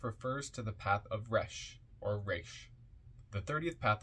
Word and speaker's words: Resh: R-E-S-H, pronounced R-E-S-H, pronounced Resh, transcribed as R, the number 200, meaning face, the collective intelligence.